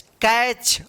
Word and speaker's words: catch: CATCH, कैच। अब देखिए यहां पे C के बाद ए है तो क उच्चारण हुआ, टी यहां पे साइलेंट है, CH है तो च उच्चारण हुआ, क्या पढ़ेंगे इसको, कैच।